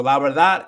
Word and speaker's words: verdad: La verdad, pero es como más fuerte los últimos tres letras de esta palabra. So, es la verdad. Y también no se suena la D, se corta la D al final de la palabra también.